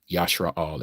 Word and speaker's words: Yasharal: That is Israel, as you may know it in the translation of how you pronounce it. Yasharal is the original.